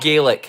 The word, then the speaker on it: Gaelic: Ga and Gaelic. Nothing to do with garlic. Ga Gaelic. No R. There's no R in either one of those.